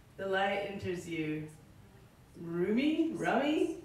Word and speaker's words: Rumi: Rummy? Rumi, yeah.